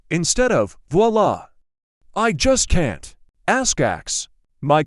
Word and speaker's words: voila: Voila, instead of voila. I just can't. Ask. My coworker adds some extra syllables to frustrated.